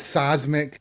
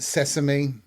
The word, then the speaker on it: seismic: But when the word is seismic and they pronounce it sesame, when they're reading it, sweet God and baby Jesus, help us.